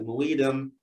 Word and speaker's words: Muidem: So as we wrap this up, as we bring it to a close, we heard about the Muidem.